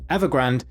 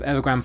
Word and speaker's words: Evergrande: This week, the Chinese property developer Evergrande, often mispronounced as if it's a Starbucks seasonal drink for Christmas, the Chinese Evergrande has officially defaulted on its dollar-denominated debt payments to bondholders.